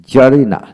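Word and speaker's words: tsarina: আসলো লক্ষ্য করেন এখানে জারিনা জারিনা জারি জারিজম জারিজম তির উচ্চারণ হলো না তারপর আসেন সোনামে সোনামে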